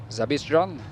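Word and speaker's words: Zabystřan: of his friends yesterday trying to learn how to pronounce his surname zabis John it's probably not Perfection yet but it's closer than ever then Yan zist at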